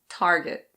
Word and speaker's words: Target: In American English you pronounce the R, so it's Target.